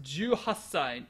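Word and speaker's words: 十八歳: This is 18 sai, but it's pronounced juasai. 18 by itself is only pronounced juachi. Juhati, but because the ch is a hard sound, and then sai has a nice closed mouth sound.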